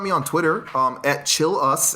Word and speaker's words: Chilous: on twitter um at chill us that's how you pronounce my last name it's c-h-i-l-l c-h-i-l-l-underscore us